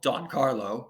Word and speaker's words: Don Carlos: Don Carlo was first performed under the French title Don Carlo, which is Don Carlo with a silent S on the end because it's in French, at the Paris Opera in 1887 in its 5-act plus ballet entirety.